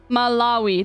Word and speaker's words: Malawi: I think he he would be able to pronounce Malawi okay K bird Ghana South Sudan Sagle Rwanda the RC Malawi that's how you say it though Malawi syel